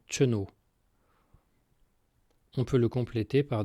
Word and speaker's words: kenavo: Pour se dire au revoir, on utilise le mot kenavo, mais en pourleth on le prononce généralement cheno.